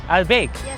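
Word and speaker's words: Albaik: Albeg.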